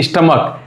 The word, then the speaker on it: stomach: जैसे स्टमक, STOMACH, स्टमक last में CH आए लेकिन उसका प्रोनाउंसिएशन क्या होता है, क होता है CH का, तो हम वहाँ पे S जोड़ते हैं।